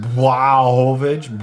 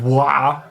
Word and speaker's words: Błachowicz: Is that why they always pronounce his name Błachowicz? Blah, because it's not like a real L. It's like it's got like this cross thing on it.